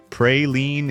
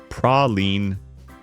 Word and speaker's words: praline: Praline is the hard French version or a mass-produced imitation. In New Orleans, it's praline.